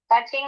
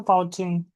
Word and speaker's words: touching: my family happy becauseou touching itu couching ya di itunya ya gimana touching itu menyentuh kan ya api eh tulisannya power ching ing dibacanya apa? Poucing. Apa itu poucing?